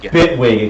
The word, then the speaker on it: Bitwig: Bitwig. Excuse me. Like Bigwig, but. Okay. Like Bigwig, but with VSTs.